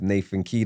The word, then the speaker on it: Nathan Khider: Today I have Nathan Kea. Did I pronounce that correct?